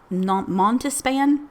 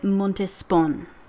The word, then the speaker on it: Montespan: Montispan, Montispan. I don't know how to say her name. Let me see what the internet says. Okay. Okay. The internet says it's Madame De Montespon.